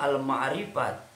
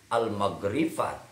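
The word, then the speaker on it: المعرفة: almrifat sebelumnya e sebetulnya harus harus dibacanya almrifat tapi dibacanya jadi almagrifat jadi almagrifah itu karena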